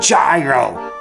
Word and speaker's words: gyro: receive confirmation that you have adopted the new pronunciation, gyro. Gyros.